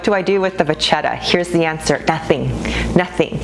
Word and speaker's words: Vachetta: do not treat the vachetta leather. Vachetta is the way you pronounce it in French, by the way, you guys.